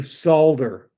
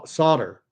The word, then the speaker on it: solder: do remember how to solder solder s solder I I hate that word because it's spelled s o d r but it's pronounced without the L you solder something I think that's